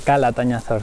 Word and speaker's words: Calatañazor: d Calatañazor, I have been saying it wrong throughout the video.